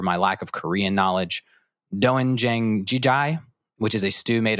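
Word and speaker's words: 된장찌개: I'm going to pronounce this wrong, so apologize for my lack of Korean knowledge. Doenjang jjigae, which is a stew made of soybean paste, tofu, zucchini, and scallions.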